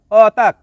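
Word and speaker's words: otak: শব্দটি লেখার ক্ষেত্রে লিখতে হয় অতাক, তবে এর সঠিক উচ্চারণ হবে অতা।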